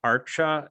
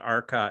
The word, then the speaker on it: arca: also just say that archer arca it's not arca it's c is always pronounced ch usually in sanskrit like the vaishnav acharyas